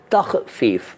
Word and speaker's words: तख़फ़ीफ़: पहले तो इसका उच्चारण, तख़फ़ीफ़। तख़फ़ीफ़ का मतलब होता है कटौती करना, कम करना, शॉर्ट करना और घटाना, खर्च घटाना, कमी कर देना, तख़फ़ीफ़।